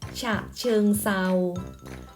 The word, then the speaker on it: ฉะเชิงเทรา: เบอร์ โทร มา นัด ฉะเชิงเทรา ตัว ทร เหล่า นี้ เรา ออก สำเนียง เป็น เสียง ซอ นัก เรียน สามารถ ฝึก